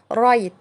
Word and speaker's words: right: طب لو جم في نص الكلمة حرف الجي والاتش في نص الكلمة زي مثلا عندنا كلمة رايت RIGHT رايت اللي هي صحيح لو جت معاها الجي والاتش يبقى الاتنين هيبقوا سايلنت ومش هننطقهم خالص وده طبعا بياخدوا صوت حرف الاي اللي جاي قبليهم.